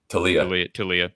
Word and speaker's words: Taulia: And I do think, and this is not an insult to is it Taulia? Am I pronouncing that correctly? Talia.